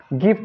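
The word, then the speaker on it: gift: जैसे हम ले लिए गिफ्ट ले लिए। अब गिफ्ट में क्या है, जी के बाद आई है, लेकिन हम यहाँ पर ज नहीं पढ़ रहे हैं। क्या पढ़ रहे हैं यहाँ पर, इसका उच्चारण ग के रूप में कर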